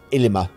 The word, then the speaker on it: Ilima: yeah it's i yeah it's ilima it's with an eye first yeah it's i-l-i-m-a